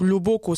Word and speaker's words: loboko: la main au singulier il faut vraiment faire attention à la prononciation parce qu'il ya un mot qui se prononce différemment ligne si vous voulez le premier odlo se prononce comme un homme normal et le boko le deuxième os il faut l'accentuer davantage l'eau bokova lobo causé la